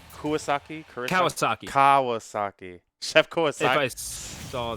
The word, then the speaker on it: Kawasaki: The Chef Kurosaki. Wait, if I say his name right? Kawasaki? Kawasaki.